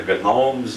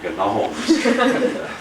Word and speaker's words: gnomes: Wilson called them the Gomes of zorich as far as I know he was the only one that ever pronounced the G in gnomes we call them the Gnomes of Zur if he complain